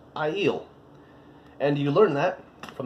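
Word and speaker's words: Aiel: to say it because you look at I yield a ie L you don't think that's how to pronounce but it is i'il and you learn that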